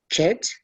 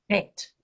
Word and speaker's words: Het: Chet, Het. Chet. Okay. No, not chet. Say het. Het. As in het, yeah.